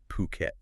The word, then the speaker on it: Phuket: And you know, just for anyone wondering, it's pronounced Phuket, right? Not fuket.